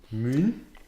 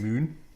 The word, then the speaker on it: Møn: Møn? It's actually written M-O-N, and the O has a sort of bar. So that's a new then. Yeah. Alright. They pronounce it like this.